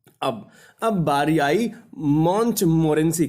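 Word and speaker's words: Montmorency: ये महोदय देखिएगा, इनका स्पेलिंग जो है नाम का वो है MONTMORE, ये ई है, NCY, ये ENCI, मॉन्टमोरेंसी, ये है डॉग का नाम।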